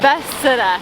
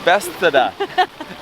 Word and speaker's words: Bethesda: Bethesda. Bethesda.